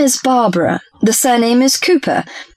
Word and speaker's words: Cooper: Madam my name is Barbara the surname is Cooper it's spelled as c o o p r fine